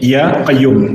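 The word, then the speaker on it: يا قيوم: Tapi ketika kemasukan ya, maka alif lamnya dihapus. Maka dibaca Ya Hayyu Ya Qayyum.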